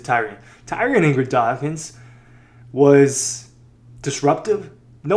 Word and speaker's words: Tyrion: Tyrion Ingram, Tyrion, I forgot that he pronounces it Tyrion.